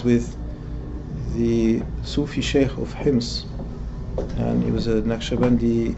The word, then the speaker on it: Homs: in his house in Homs. So in English and in colloquial Arabic we say Homs, but when we pronounce it in Fusha we must say Hims.